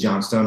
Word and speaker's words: Johnstone: I think it's Johnstone, right? That's how you pronounce her name, Caitlin Johnstone.